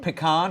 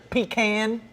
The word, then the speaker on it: pecan: I don't know, Cam, pecan or pecan? Sounds pretty good right now. How do you say it? Pecan or pecan? Anyways. Anyway, I say pecan.